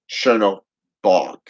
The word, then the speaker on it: Chernobog: somebody squidward's works is it's c-e-r-n it's how it's pronounced it's the way they he spelled it but if you go into mythology and you go into slavic okay traditions it's actually ch okay it's a cherno bog okay brother of bella